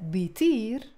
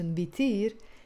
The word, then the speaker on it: بيطير: YouTube الهوى بيطير زلمة So I said بيطير بيطير with that pronunciation بيطير يعني it flies or he flies بيطير بيطير it's three syllables there's a فتحة on the top بيطير yes it blows